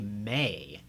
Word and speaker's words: me: the G minor scale, is going to be may, M-E is how you would spell it out.